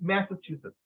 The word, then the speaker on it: Massachusetts: I got student pronounce Massachusetts, so it's Massachusetts. Okay, the double T, Massachusetts.